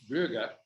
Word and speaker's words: Gloege: This book, called Guaranteed Pure by Timothy, and I'm going to pronounce it the German way, Gloege, Gloege, is a history of the Moody Bible Institute.